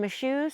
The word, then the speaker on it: Michaux: But anyway, I'm at our new camp spot with Mark, and we are in Michaux State Forest.